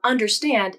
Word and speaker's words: understand: The second syllable of understand is der. Der. Der. This syllable is noticeably shorter and lower than the other 2 syllables. Understand. Understand. Der. Der. This is the weak syllable of the word, and it is unstressed.